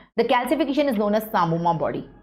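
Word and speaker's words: psammoma: Can you see here the calcification the calcification is known as samoma body. P is silent here.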